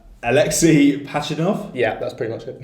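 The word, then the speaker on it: Alexey Pajitnov: Alexei Pachinov? Yeah, that's pretty much it. Yeah? Okay, easy. So... Why don't you write phonetically?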